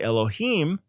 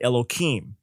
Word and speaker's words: Elokim: from scripture or praying when they say elohim they instead will say elokim they pronounce it differently so it goes even